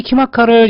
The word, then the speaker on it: KIMACA: 키마카 발음 그대로 키마카. 킴 아카데미 요런 킴 더하기 아카데미, 제 성이 킴이잖아요.